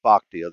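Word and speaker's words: Bochte: looked it up today not to be confused with the Bruce Bochy Bruce bachty uh I can now pronounce it with confidence Bruce bachtia the Seattle Mariners first base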